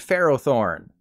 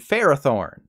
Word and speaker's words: Ferrothorn: not pharaoh seed and Pharaoh Thorn they are phariseed and Ferrothorn the Pokemon company sure does like to make an o sound like an ah don't they so remember